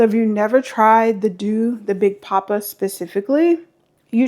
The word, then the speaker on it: The Doux: D O U X is pronounced Doux.